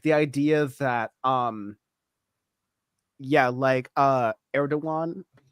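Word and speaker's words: Erdoğan: But at least Bam is not saying Erdogan, right? Because I've heard some leftists pronounce it Erdogan, and I'm like, we're done. You clearly don't pay attention to Turkey if you're pronouncing it Erdogan.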